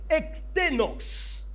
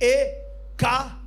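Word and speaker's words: ἐκτενῶς: Ektenos. Ça s'écrit E-K-T-E-N-O-S.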